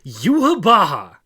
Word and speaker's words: Yhwach: How do you pronounce that shit? Yuhabaha. Seriously? That is pronounced Yuhabaha. No. Yuhabaha serious brain injury if you think that's what that spells.